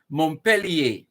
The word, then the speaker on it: Montpellier: a french place name montpellier that's the correct pronunciation in if you're doing it the french way it would be montpellier montpellier but it's if